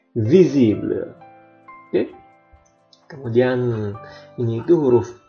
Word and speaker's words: visible: Kemudian huruf V itu dalam bahasa Indonesia mungkin dibaca visible, tapi dalam bahasa Prancis dia dibaca V, visible.